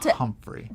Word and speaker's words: Humphrey: So the accent was on the first syllable, Humphrey.